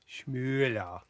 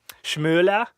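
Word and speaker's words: Schmoeller: Schmüller. Schmoller? Yeah, with the OE there.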